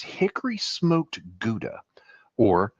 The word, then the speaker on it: Gouda: Now it says hickory smoked gouda or howa as it's pronounced in Holland where gouda originally came from or how originally came from.